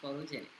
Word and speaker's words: PHOTOJNC: Instagram is at photogenic, PHOTOJNC, pronounced photogenic.